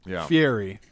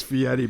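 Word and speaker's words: Fieri: Fury. Guy Fiery. No, it is Fiieti, but it's spelled Fiery.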